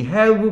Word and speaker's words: have: 이 have 발음할 때는 아래 미술을 물고 이거예요.